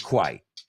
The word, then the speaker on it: quite: Quite se pronuncia quite. No la confundes con quiet, silencioso, que se pronuncia quiet.